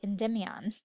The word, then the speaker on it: Endymion: And I'm still saying it wrong because apparently I've said it wrong my whole life because in this version they say Endymion.